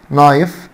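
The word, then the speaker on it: knife: عندنا كلمه سمالينا سمالينا، نايف الكي طبعا سايلنت، فورك معنى شوكه، تاني نايف معنى سكينه، وفورك بمعنى شوكه، وافن افن بمعنى الفرن.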